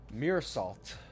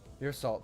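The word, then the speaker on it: Meursault: How do I even pronounce that? Mir salt. Mir salt.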